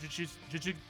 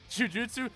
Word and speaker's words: Jujutsu: So just at only know only fully knowing one series and only having watched episode one of Juju Ju. It's Juju. It's the same syllable twice. Ju Jujutsu.